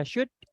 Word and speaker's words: should: Itu kan tulisannya should gitu kan. L-nya dihilangkan. Jadi kayak U-nya dihilangkan, langsung aja should, could, gitu aja. Sorry. O sama L-nya dihilangkan.